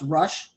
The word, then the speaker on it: Rosh: his name is the rush okay it's actually spelled like rosh you know but it's pronounced rush i mean joel corrected